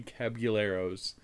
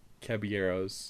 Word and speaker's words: Caballeros: okay well i have seen three cabbage three cabuleros caballeros there you go caballeros spanish you don't pronounce the owls nope okay okay well after